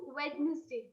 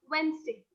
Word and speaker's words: Wednesday: But as the common notion goes, many people pronounce it as Wednesday. which is the wrong and the mispronounced version of Wednesday. It's Wednesday.